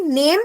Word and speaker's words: Name: Now see, name is written exactly the same in German and in English, right? But pronunciation is different in German.